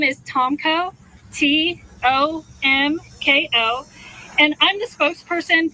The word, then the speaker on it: Tomko: Tomko, that's spelled. Last name is Tomko, Tomko, and I'm the spokesperson for the 3rd Infantry Division.